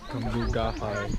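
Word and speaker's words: Cambugahay: And how do you say that? Kamugai or Kamugahai? Kamugahai.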